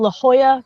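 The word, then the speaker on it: La Jolla: um it's just here it's called La Hoya California it's spelled Le Joya though um just a little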